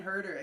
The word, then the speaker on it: Huerter: Kevin Huerter. Is it Huerter? That's how you pronounce it?